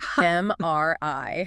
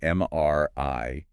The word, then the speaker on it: MRI: You must spell out the letters individually. M R I. And the stress is on that final letter, right? M R I. The voice sort of goes up slightly at the end.